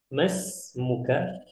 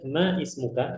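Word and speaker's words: ما اسمك: ya usahakan tadi ada ini teman kita yang bacanya Ma ismuka itu gak salah cuman lebih bagusnya lebih afdalnya kita langsung dihubungkan saja seakan-akan Alif di sini tidak ada ya karena ini ini ikhwah ini namanya eh Alif wasal ya atau Hamzah wasal tapi seakan-akan Alif di sini tidak ada ya Jadi kita bacanya masmuka yamuka Apakah Ma ismuka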